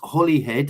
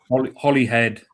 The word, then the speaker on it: Holyhead: It's come from Claire Hughes, and she asked, why is Holyhead and Holywell pronounced as Holly, if you don't mind me asking?